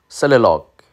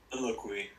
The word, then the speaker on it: soliloquy: And a divine soliloque, how to pronounce that word? Soliloque. I'm sorry. Don't know what that means even. Soliloquy.